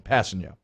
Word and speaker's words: Kpassagnon: I looked it up online yesterday, so it's easy to it's like pass, the letter N, and then yo. If we're just talking phonetic pronunciation, Kpassagnon.